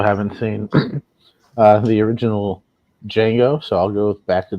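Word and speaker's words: Django: seen uh the original D Jango so I'll go back to the future too I think it's a great continuation of the first movie do you guys know the D is silent it's crazy right oh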